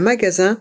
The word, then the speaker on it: magasin: Et le S est entre deux voyelles, donc on le prononce Z.